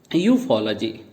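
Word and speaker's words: ufology: यूफोलॉजी, हमें लॉजी से नहीं तोड़ना, एल को अलग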